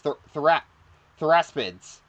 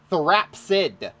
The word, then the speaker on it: therapsid: I always pronounce these things like theraspids, but no, it's therapsid. Theraspid. No, it's Therapsid. That P and S I always get mixed up.